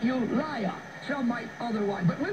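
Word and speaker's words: Ulai: I would say pronounce it you liar.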